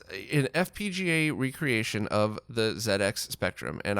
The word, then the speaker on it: ZX Spectrum: fpga recreation of the zx spectrum and i was told i have to say zed because it was never released in north america so say it like it was said where it was released i don't want to